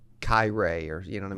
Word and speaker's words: Kiray: "Hey, it's Kiray," and I think I said Kiray, or you know what I mean, something Kyrie. Right? Who knows? Yeah, right? yeah. Kyrie Irving. I don't know. And he's like Kiray, like courageous.